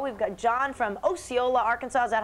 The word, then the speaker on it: Osceola: We've got John from Osceola, Arkansas. Is that how you pronounce it?